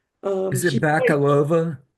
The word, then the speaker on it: Bakalova: Is it She plays, Bakalova? Bakalova plays Ivanka.